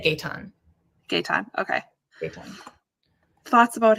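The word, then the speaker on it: Gaëtan: I listen to it and they said Gayton.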